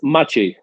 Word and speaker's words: Maciej: It's Maciej. Maciej. I'm so sorry. Maciej. All right. So in Polish, the C is a ch.